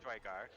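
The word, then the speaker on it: Duergar: That is the Drugar city, or Durgar city, the Dark Dwarves, the Grey Dwarves, whatever. Dargar, is that how you say it? Drygar.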